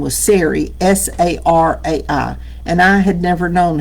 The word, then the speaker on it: Sarai: And the woman his wife's name was Sarai, S A R A I. And I had never known how to pronounce that until Bruce said it a couple of Sundays ago.